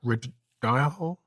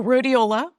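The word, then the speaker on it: Rhodiola: I found a supplement called I can't pronounce the name properly, but redhole. Oh, rodeiola. Rodeiola.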